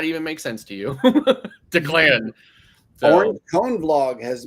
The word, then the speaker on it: Declan: It's pronounced Declan. Very popular name, especially in Ireland.